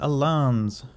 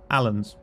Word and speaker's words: Alans: faction they've assigned me is the alans or Allens depending how you wish to pronounce it although if you say